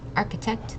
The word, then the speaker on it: architect: So it's architect, the C and the H make a hard k sound.